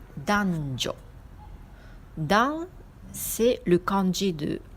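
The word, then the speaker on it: 男女: Alors, hommes et femmes, on dit danjo.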